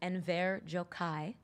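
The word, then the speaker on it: Enver Gjokaj: His name is Enver Jokai.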